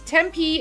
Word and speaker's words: Tempe: See, I'm learning the pronunciations. This one is Tempe, Arizona.